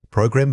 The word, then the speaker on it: program: Gram, noun. Program, verb. The primary emphasis shifts from the first syllable to the second.